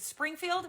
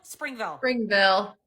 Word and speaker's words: Springville: Is it Springfield? Springville. Springville, thank you. It's not Simpson.